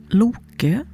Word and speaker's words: Loki: I should mention that Lok or he's also called Lop or in Old Norse his name is Loki. And here in Sweden and Denmark, he's pronounced or called Lo.